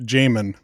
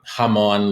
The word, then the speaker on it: Jamon: m o n and you pronounce it Jamon Jamon not hamon like not hamon yeah some of that